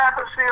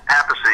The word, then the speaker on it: Appice: And after the drum solo, it's a live album, Tim Bogert, the bassist for the Fudge, said, "That's Carmine Appice on the drums," So there is actually recorded proof that he said Appice.